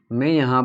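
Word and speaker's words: μ: म्यू, इसको म्यू बोलते हैं, MU, म्यू।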